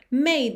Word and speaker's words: made: a river that flowed made me sad to think it was dead. Então, made me sad. Aqui, também o passado de make é made, M-A-D-E, mas esse E não é pronunciado.